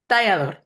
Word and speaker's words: Talador: Is it Talador? Is that right? Talador. That's the right pronunciation.